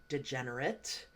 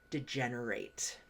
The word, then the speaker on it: degenerate: and a different pronunciation this word can can be also pronounced degenerate but here with this meaning of declining or deteriorating physically mentally or morally we are going to use degenerate so an example here